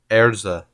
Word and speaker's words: Erza: a huge crush on erza i guess it's supposed to be a name like her name is supposed to be elsa elsa scarlet but since it's like japanese they pronounce it erza so he was like